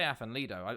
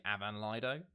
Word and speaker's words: Afan: I say Afan Lido. I had a Welsh person, my housemate, say it's actually Avan Lido. So I've been saying it wrong the whole time, but I just sort